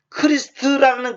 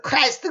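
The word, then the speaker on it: Christ: 크리스트. 뭐다 영어에서 크라이스트. 근데 크라이스트라는 말은 그거 영어식으로 왜곡된 발음이고 크리스트.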